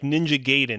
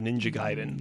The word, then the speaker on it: Ninja Gaiden: I was gonna say, like, how many of us like pronounce it like Ninja Gaiden instead of Ninja Gaiden?